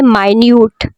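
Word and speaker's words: minute: वो जो है ना स्मॉल के लिए इस्तेमाल करेंगे इस लब्स को तो बोलेंगे माइन्यूट माइन्यूट देखिए कितना डिफरेंस है ना जब हम इसे स्पेलिंग एक ही है लेकिन अगर हम किसी स्मॉल चीज के लिए इस्तेमाल करेंगे तो उसको हम कैसे प्रोनाउंस करेंगे माइन्यूट माइन्यूट ठीक है लेकिन टाइम के लिए तो मिनट हो जाएगा ठीक है जी तो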